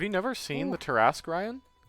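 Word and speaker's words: Tarrasque: Because one of the most deadly creatures in all of the monster book is called a Trask. Tarask. Yeah, Tarask. But Yeah. like, yeah, it's a very Those- similar pronunciation.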